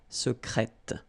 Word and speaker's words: secrète: Okay, so I tend to insist a little bit on it just to make you hear the difference between the masculine. Secret, secrète. Okay, you're pronouncing the T.